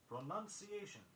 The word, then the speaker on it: pronunciation: Oddly enough, the word pronunciation itself is often mispronounced. Here the spelling of the word does provide a guide to its saying. It is pronounced, P-R-O-N-O-U-N-C-E, but pronunciation, P-R-O-N-U-N-C-I-A-T-I-O-N.